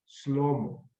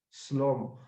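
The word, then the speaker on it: שלמה: la palabra hebrea shalom que significa Paz la pronunciación en el hebreo es slomo sí slomo que significa realmente su paz o la paz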